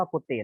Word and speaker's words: กุฏิ: ก็ คือ เต็ม กุฏิ อัน นี้ อ่าน ว่า กู ติ นัก เรียน ครับ แต่